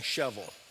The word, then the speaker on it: Shelbyville: How do you say Shelbyville in Tennessee dialect? I had to learn this, but you're saying shovel. They say it so fast, they taught me to say, you just say shovel.